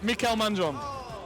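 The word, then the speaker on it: Mikael Mandron: Oh, sorry, Mikel Mandron. If that's, is that how you pronounce it correctly?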